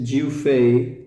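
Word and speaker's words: 岳飞: El autor es Jiu Fei, que se escribe Yue Fei.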